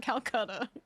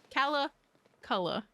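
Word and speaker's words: Calaculla: I was close enough it's not Kata which I was like not a chance in hell that that is pronounced that way I don't care okay Calla Cola bringing us back rewind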